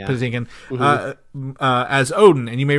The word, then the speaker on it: Patinkin: I don't know how to pronounce his last name. Patinkin.